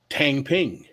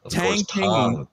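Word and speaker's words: 躺平: Tang Ping. What did you just call me? Tang. I believe the phenomenon is called Tang Ping. Did he say it right? Chinese speakers? It's Tang Ping.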